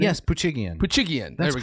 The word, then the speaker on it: Poochigian: Yes, Poochigian.